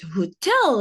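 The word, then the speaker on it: hôtel: can see in here, hotel, we pronounce it hotel. In English, you can see that we are pronouncing the H, but in French we say hotel. An hotel. We don't not pronounce the H. We completely ignore it.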